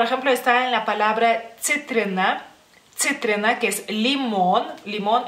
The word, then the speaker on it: citrina: entre comillas, problema, porque en lituano la C se pronuncia de diferente manera, que es C. C es como si fuera TS juntas, digamos así.